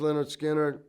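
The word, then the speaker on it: Lynyrd Skynyrd: is that leonard skinner the leonard skinner pronounced leonard skinner it was going on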